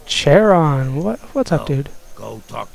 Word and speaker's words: Charon: Yeah, I've seen the name Charon. Apparently that's how you're supposed to pronounce it. I've always been pronouncing it Charon.